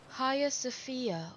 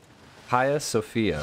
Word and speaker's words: Hagia Sophia: I'm doing you can say hi Sofia or Hagia Sofia hiya Sofia so hiya Sofia okay I think that's